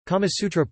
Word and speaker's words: Kāmasūtra: The Kama Sutra, Sanskrit, Kamasutra pronunciation, Kama Sutra, is an ancient Indian Sanskrit text on sexuality, eroticism and emotional fulfillment in life.